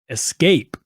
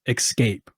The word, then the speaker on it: escape: say it wrong again Escape okay e s and then the rest of the word well my country Kentucky accent says excape ex Escape it's the same it